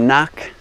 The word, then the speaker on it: nuc: Now, here we have a typ typical little nuke box. Some people call it a knuck. It's spelled n u c, short for nucleus.